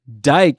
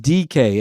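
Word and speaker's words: Dike: game, my guy Shamir Dyke is what I've been calling him. It's pronounced DK, and nobody has corrected me on that. They just let me call this guy Dyke for the last year.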